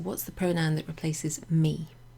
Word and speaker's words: me: So me and te, you might remember them because they rhyme, they look similar, and you pronounce them with an e sound, like the letter e.